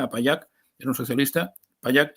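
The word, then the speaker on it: Pallach: payac er un socialista payak se escribe con ch final pero después de que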